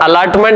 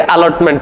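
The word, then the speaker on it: allotment: इसमें double L आएगा और अलर्टमेंट नहीं पढ़ेंगे अलॉटमेंट पढ़ेंगे तो ओ पढ़ोगे तो आपको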